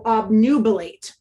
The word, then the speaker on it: obnubilate: This is a long A sound because this E is here to help the A represent its name. So obnubilate.